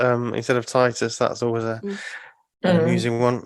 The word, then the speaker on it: Titus: Bible and now I feel like when people mispronounce job as job I can correct them or titties um instead of Titus that's always a losing one yeah um yeah